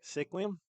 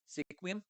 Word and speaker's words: Sequim: and at uh how do you say it sequium Sequim sure sure okay state park right Sequim what